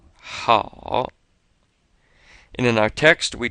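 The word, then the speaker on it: 好: this a and o kind of sounds like ow with this o here being very light which means you shouldn't close your mouth and purse your lips as you finish saying it you want to keep your mouth open at the end so we come up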